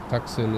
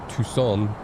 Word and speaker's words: Tucson: Tuxen is pronounced Tucson.